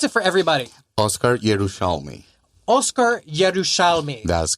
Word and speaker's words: Oscar Yerushalmi: Pronounce it for everybody. Oscar Yerushalmi. Oscar Yerushalmi.